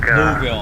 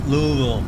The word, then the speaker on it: Louisville: Louisville. However they say it, Louisville. We don't say it like that in California, it's Louisville here.